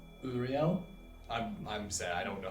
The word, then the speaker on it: Euryale: Now, these are Greek names, so I do apologize if I mispronounce these, but the sisters are Sethino and Uriel. Something. Uriel. Ariel. It's Euryale. So yeah, it's Uriel.